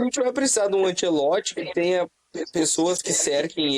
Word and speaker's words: Ancelotti: respeito também chamando Carlo Ancelote. O cara é italiano, pelo amor de Deus, é Antielote.